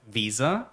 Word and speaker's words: Weser: It's Rhein, then you have Weser, and then you have August von Pasewalk. So Rhein, Weser, and August von Pasewalk.